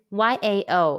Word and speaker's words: yao: knock in chinese question when you see i-a-o and y-a-o in pin in how would you pronounce them the answer is yao are there any topics